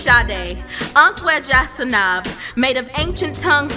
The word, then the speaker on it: Sade: Sadie? Sade? No, actually it's Sade, Sanab, made of ancient